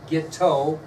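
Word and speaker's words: Guiteau: to be Charles J gift oh isn't really sound like it's spelled he was immediate and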